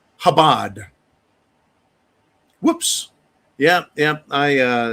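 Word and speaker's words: Chabad: Uh, Darc uh uh has let me know it's pronounced Habad.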